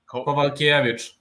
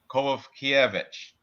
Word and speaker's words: Kowalkiewicz: So the W is pronounced with a V. Kowalkiewicz. Kowalkiewicz.